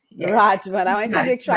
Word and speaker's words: Radgman: Um, we're talking about your and your your last name is Rajman. Correct. Correct. It's Rajman. Yes, Rajman.